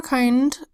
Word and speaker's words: kind: Now you would think that this would be a short I because the D is a consonant letter. However, we have two consonant letters in a row, and sometimes when that